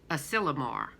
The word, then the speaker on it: Asilomar: and that's in California let's see how to pronounce it again I already forgot Asilomar and that means refuge ok so that's what